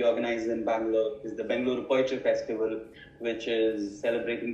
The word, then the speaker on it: Bengaluru: Bengaluru Poetry Festival, pronounced that correctly? Yes, Bengaluru. Yes. You Bengaluru.